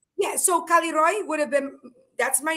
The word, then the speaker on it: Kaliroy: It would have It would have been K A L I R O Y. Kaliroy. Okay. Kaliroy. Yeah. Kaliroy. Yeah. You just have to roll the R. That's all. But like Yeah. So Kaliroy would have been that's my name.